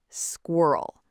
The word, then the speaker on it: squirrel: The problem is the R. Learners say squirrel, which sounds logical. But native speakers say squirrel with a really weird specific pronunciation of that R sound. And honestly, different English speakers say it slightly differently depending on where they're from. Americans say it one way, British people say it another way, Australians have their own version.